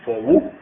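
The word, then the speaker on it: phowa: sobre el el poa escribe así p h o w a pero se pronuncia fobu Eso significa la transferencia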